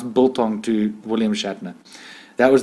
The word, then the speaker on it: biltong: He was like, I had to say it like bull's tongue.